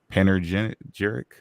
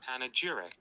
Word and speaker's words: panegyric: black and contrasted with white, be slid into panegyric.